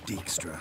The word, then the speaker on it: Dijkstra: They are not saying the J. It's just Dix.